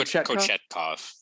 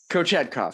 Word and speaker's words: Kochetkov: I'm gonna go Kochetkov. Kochetkov sounds like Coachella, but Kochetkov. It's better than that Russian guy.